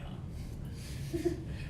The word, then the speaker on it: Han: I'm gonna write Han. That's how it's pronounced.